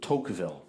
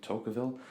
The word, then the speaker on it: Tocqueville: It's written by Alex Tocqueville, who, I think that's how you pronounce his name, Tocqueville. And upon reading the introduction, apparently this is a monumental piece of literature regarding America.